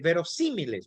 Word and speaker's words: verosímiles: Sus variables suelen ser verosímiles. Mire esa palabra, acento en la I. Verosímiles, claras y lógicas.